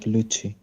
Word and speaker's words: Luci: It's uh it's a Chinese name, so it's pronounced like Luchi. Luchi.